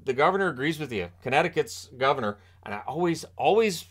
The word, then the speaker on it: Connecticut: governor agrees with you Connecticut's governor and I always always forget the C in Connecticut because there's three C's in it that second one is silent and it just throws